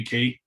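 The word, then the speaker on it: quay: is yeah still there as a brit it's definitely key okay that's what it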